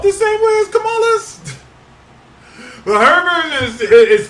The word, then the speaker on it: Kamala: might have a female president uh whose name is spelled the same way as Kamala but her version is is camela yeah so